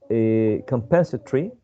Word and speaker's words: compensatory: Compensatory, because sometimes when you don't see this, you tend to think that it has less syllables. But actually, you have to consider this. So 1, 2, 3, 4, 5 syllables. 5 vowel sounds, 5 syllables.